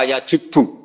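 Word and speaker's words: يَجُبُّ: Itu bacanya bukan yajibu tapi apa? Yajubbu a yaq lah.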